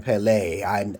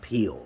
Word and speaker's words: Peele: that how Jordan Peele, I say his last name like French, okay? Because that's how it's spelled. It's not Peele, okay? But he may say it's Peele, but if it has a L-E at the end, I used to study